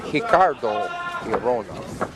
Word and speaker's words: Arona: cardo in Brazil they pronounce the uh words to begin with an R with an H sound gra and hioa from Brazilian top team